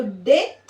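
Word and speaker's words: debt: है उधार डेप्ट लेकिन ये डेप्ट नहीं है ये क्या है डे ठीक है डे डे ठीक तो डी ई बी टी यानी बी यहां पर साइलेंट है मैंने आपको बताया रूल में कि टी से जस्ट पहले अगर बी आ रहा है तो B will be remain silent ठीक है वो साइलेंट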